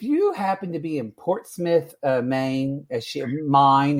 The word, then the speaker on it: Portsmouth: Portsmouth Maine and um not Port Smith Portsmouth well that's her problem